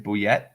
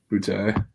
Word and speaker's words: Boutte: Boutte? Boutte. Keyshawn Boutte.